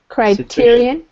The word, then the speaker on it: criterion: over phone bells this criterion this is a CR is the hard C search crap criterion okay